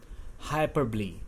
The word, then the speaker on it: hyperbole: हाइपरबॉल बोलते हैं, बट इट इज़ नॉट हाइपरबॉल और बॉले, इट्स हाइपरबली. ओ is silent over हियर, सो use in this manner whenever you are using this figure of speech.